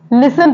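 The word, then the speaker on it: listen: टी तो इसको हम लिन नहीं पढ़ते लिसन पढ़ते हैं क्या पढ़ते हैं लिसन नेक्स्ट वर्ड है ऑटम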